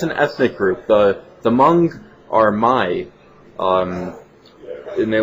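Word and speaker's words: Hmong: so every time the mung New Year comes around uh I get a couple of angry comments because I pronounce the h it's a silent h it's not Hong it's m and that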